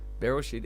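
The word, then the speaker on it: בראשית: But anyway, it's Bereshit. It's spelled Bereshit, and I want to look at the depth of the meaning.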